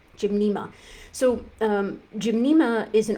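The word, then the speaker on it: Gymnema: Um the first one is Jimnma. Jimnma. It's spelled G Y N. Uh, is there two N's? No, sorry. Just start again. Scratch that. G Y M N E M A. Jimna. Gymna.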